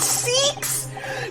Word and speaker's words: Sykes: disc mm-hmm is it sykes like yikes or is it seeks like leaks oh my god have i been saying it wrong this whole time oh no oh no it seeks no this whole time i've